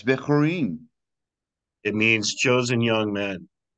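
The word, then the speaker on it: בחורים: It's almost like bickering, but it's spelled with a het. And yeah, it's Bechorin.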